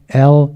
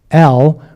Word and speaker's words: El: They actually put a W in the pronunciation piece on this one. So it's not L, it's El, which is the general word for God, which is even before.